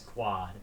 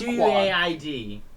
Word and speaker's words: Quaid: What the fuck is quad? It's I don't know. It's Quaid. Quaid.